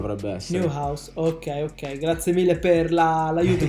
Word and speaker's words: Neuhaus: Allora, partiamo con il primo giocatore è Florian Neuhaus, dovrebbe essere la pronuncia, Newhouse spero, dovrebbe essere. Neuhaus, ok, grazie mille per l'aiuto con la pronuncia, Spero, è un spero.